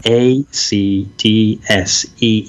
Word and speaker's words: ACDSee: remember rightly, it's called ACDC, not the band, ACDC, SEE. I will link to it, as in of course. C, right, okay. Yeah. ACDSEE. It's those silent letters again and again.